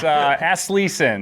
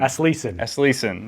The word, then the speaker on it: Aslesen: into talking because I didn't know how to pronounce it. So I know it's Aslesen. Aslesen.